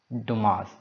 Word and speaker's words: Dumas: question number eleven three musketeers that's written by dumas okay so duma it is pronounced as tomorrow yeah so just uh mark